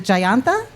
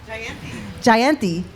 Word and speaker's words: Jayanti: Is it Jayanta? Jayanti. Yes, Jayanti Kyle is here, a young musician in her own right.